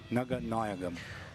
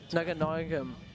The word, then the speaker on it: Naganayagam: They come and told me the correct pronunciation was Naganayagam. Naganayagam. Yep.